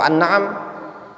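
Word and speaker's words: الأنعام: Suratut thalaq tusama suratun nisa assugra suratus syuara tusama aljamiah suratun nasr tusamma attaudi suratul an'am tusamma anniam atau annaam alan'am annaam bukan niam ya naam itu bacanya suratul qamar tusamma alkaukab Jelas itu nama-nama surat.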